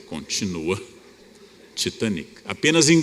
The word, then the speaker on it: Titanic: Essa pronúncia existe até hoje. Ora, é um navio britânico. Não há nenhum motivo para chamar um navio inglês de Titanic. Ou eu digo em inglês ou eu digo em português. Por que é que eu opto por pronunciar de forma francófona? Porque toda a elite brasileira falava francês. Éramos todos francófonos. E o navio era Titanic.